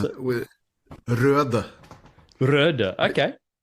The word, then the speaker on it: Røde: with røde. Røde. Okay. Because it has the Norwegian letter.